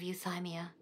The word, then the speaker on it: Euthymia: again why now this is your plane of euthymia it's your inner world that's how you pronounce it can only mean that you are